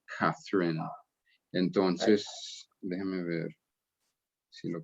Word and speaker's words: Catherine: Bueno, pero en inglés se pronuncia Catherine.